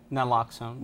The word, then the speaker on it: naloxone: wrote about knocks alone didn't unlock so just pronounce it for me nan locks on the lock zone is that something you use